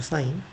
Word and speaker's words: sin: sin 뭐 이렇게 부르거나 뭐 신이라고 부르거나 그러면 안 됩니다. 사인이라고 부르고 코사인 탄젠트라고 부릅니다.